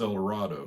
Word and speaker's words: El Dorado: there one time so it was always pronounced El Dorado so that's how I say it and I was actually